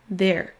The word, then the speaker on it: there: On le retrouve par exemple dans le mot there. There. Alors comment le prononcer? Tout comme le précédent son TH, il faudra mettre votre langue au niveau de vos dents supérieures, ici, et ensuite faire le son Z.